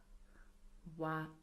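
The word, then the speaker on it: は: So as you can see we write it as hiragana but we pronounce it as a particle as wa.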